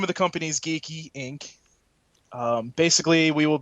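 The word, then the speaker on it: Geek-E: from now on uh they'll be off of geeky yeah of course and that's spelled uh g-e-e-k Dash e get it geeky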